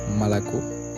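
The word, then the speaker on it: молоко: comme akno, une fenêtre, malako, du lait, masla, le beurre, palto, le manteau. Oui, je comprends que nombre d'entre vous se demandent, mais pourquoi donc prononcer le A à la place du O?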